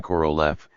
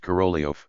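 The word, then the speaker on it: Korolev: Russian letter E is denoted by the English E, hence the transliteration corolaf, though it is pronounced corolio.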